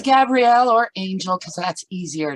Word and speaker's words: Gabrielle: Am I pronouncing it right? It's Gabrielle or Angel, because that's easier to say, or you can call me Gabby if that suits you.